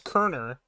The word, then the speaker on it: Cerner: time for you to start pronouncing Cerner correctly it's Kerner like the kernels doesn't it doesn't matter